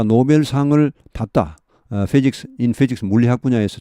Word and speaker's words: Nobel: 그러면 노벨 프라이즈 이렇게 이 발음은 노벨입니다. 노벨. 이게 뭔가 철자가 잘못됐네요. Nobel이죠. novel 이것은 소설, 새로운 이런 말입니다. 이게 철자가 잘못됐죠. 자, 이것은 Nobel, 노벨입니다. 노벨, N-O-B, 할 때 B입니다.